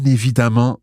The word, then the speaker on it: évidemment: I like that word, évidemment, and it's quite interesting from a pronunciation point of view. Hélène, can you say that, please? Évidemment. Now, it's spelled Iacute, V-I-D-E-N-N-E-N-T. Évidemment, but the middle vowel there sounds like an A.